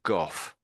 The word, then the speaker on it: Gough: This is an English name, Gough, and that is pronounced just as I'm saying it now, Gough.